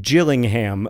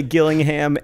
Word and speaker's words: Gillingham: I would argue that it's like GIF or GIF. Both pronunciations are correct. I do not know for sure how to say Gillingham and or Gillingham, but I will die in the belief that both are acceptable pronunciations.